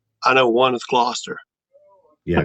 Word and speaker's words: Gloucester: they want me to ask you how you pronounce. I know one is Gloucester. Yeah, Gloucester.